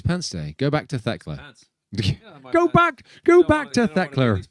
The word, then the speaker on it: Thekla: Go back to Thekla. Go back to Thekla. These pants right now. You've got to spell it with an ER if you're going to say it like that. Go back to Thekla. Thekler.